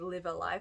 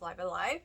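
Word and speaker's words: Live A Live: Live Alive, before I completely forget about it, because I did have to YouTube how to say this because I thought it was like Live Alive, but no, it's Live Alive.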